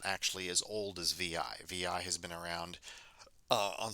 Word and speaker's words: vi: page over there, and that's actually pronounced VI. People don't call it Vi. Well, some people do, but it's generally it's going to be pronounced VI.